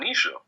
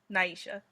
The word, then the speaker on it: Naisha: So the first question comes from Nisha. Nice. But yeah. She asked, wait, did I pronounce it incorrectly? A little bit, but it's fine. Naisha.